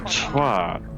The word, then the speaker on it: twat: That's not how you pronounce it, but fair. That sounds like an O in your pronunciation, not an A.